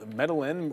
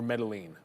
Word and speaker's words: Medline: Uh thank goodness it's metal medalin or medline. Not even close. Uh we were close. It's it's easier. Medline. Medline. I thought I heard you saying that this morning and I was like what is this guy talking about? And then I looked it up. It's literally that simple. Me line.